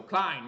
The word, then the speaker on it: Klein: I know it rhymes with something. Rhymes with something. Jack Patrick says it rhymes with something. Shine. So Klein, right?